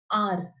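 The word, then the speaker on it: heir: आर। अब इसको pronounce कैसे करते हैं हम? एच क्या होता है हमारा? साइलेंट। तो हम इसको प्रोनाउंस कैसे करते हैं? आर से करते हैं।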